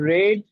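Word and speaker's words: read: আই রেড the book yesterday. এখানে এটা রেড উচ্চারণ হবে।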